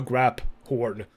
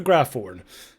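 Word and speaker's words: Graphorn: two things number one uh Professor Weasley definitely called it a grab horn not a graph horn so either you can pronounce it both ways or they made another mistake in the game and also I love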